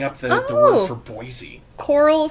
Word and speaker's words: Boise: you say Boise I I knew someone who would say boisey like like over pronounce it which was kind of weird to me I'm like what what is wrong with you why why are you not saying Boise now I'm like my